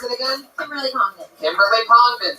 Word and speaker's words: Congdon: Kimberly Congdon, spelled like it sounds, C-O-N-G-D-O-N.